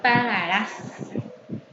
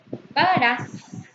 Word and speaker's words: pagarás: Tiene acento prosódico en su última sílaba. Pagarás. Ahora termina en S. Según la regla de ortografía que vimos, debe llevar tilde en la A. Pagarás. Porque termina en S y es una palabra aguda.